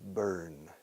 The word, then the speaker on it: Bern: The capital of Switzerland is Bern. Escrito Berna. Berna está ardiendo. Arde Berna. Burn is burning. La pronunciación es idéntica.